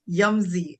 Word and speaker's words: Yumzy: Am I pronouncing the name of your brand well? Yumzy. I love that. Yes, So it's correct.